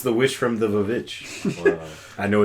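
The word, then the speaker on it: The VVitch: Yeah, it's the witch from the Vavitch. Wow. I know it's pronounced the witch, The though.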